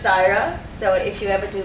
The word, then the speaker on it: Syerah: allow me to welcome sarah good evening everybody i actually see some familiar faces though we've got some thai institute alumni here as well um my name is pronounced saira so if you ever